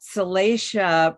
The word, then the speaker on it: Salacia: and then you know that salacia pronunciation of her name uh refers to that word salacious that means that that